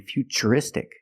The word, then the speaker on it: futuristic: words what's the pronunciation what's the pronunciation of T that's right it's ch because we see t r e we pronounce the T as CH and we see t r i in futuristic again the t is pronounced with the CH sound so the first word